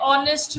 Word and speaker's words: honest: An is used when H is silent.